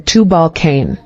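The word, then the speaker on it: Tubal-cain: rinder of the sword pronunciation Tu Balan Bible verse Genesis 4:22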